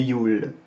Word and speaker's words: Yule: je ne veux dire ça se prononce et yul tout simplement on insiste sur le you'll et le mot en